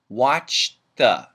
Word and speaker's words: watched the: now pronunciation watched the what happens here is the D and the th get linked together but we keep only the th watch the I watched the show